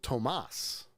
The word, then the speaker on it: Thomas: When it comes to Thomas, there are people who spell their name Thomas, but actually pronounce it Tomas.